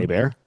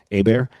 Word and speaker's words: Hebert: My name is spelled Hebert, but it's pronounced Hmm. Hebert. Hebert.